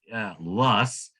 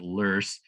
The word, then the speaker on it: loess: called, you see that weird word, LOESS, that pronounced Luss. The Germans pronounce it Lurs, but it is a windblown, fine-grained sediment that